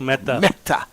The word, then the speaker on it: Mehta: Mehta. Am I right? That is correct, Mehta. All right, I have to get these Indian pronunciations proper, Doc.